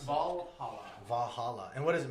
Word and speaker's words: Valhalla: You can How do you pronounce it? Valhalla.